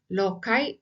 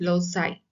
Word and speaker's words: loci: Next is method of loci or method of loci. Both way it is pronounced.